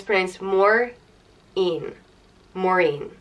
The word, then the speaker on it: Maureen: it means bitter and it's Prince more mean Maureen it's it is an old Irish name but